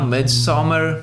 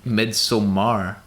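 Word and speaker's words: Midsommar: you say it midsummer mid-summer mid-summer most people just say mid-summer mid-summer yeah but it's with an a it's midsomar yeah you could say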